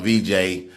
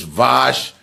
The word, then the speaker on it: Vash: I just call him VJ, and I always say, "What's up, baby?" So I said his name wrong. It's Vosh. It's spelled V-A-S-H.